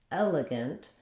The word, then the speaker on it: elegant: In elephant and elegant, we stress on the first syllable.